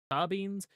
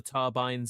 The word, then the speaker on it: Tabin: Yes, it is pronounced Tabins because I'm going with the Japanese pronunciation. Probably known as the Turbines in English, because it does look like they didn't change the name.